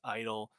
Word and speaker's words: (G)I-DLE: Yes, I-DLE, the G is silent.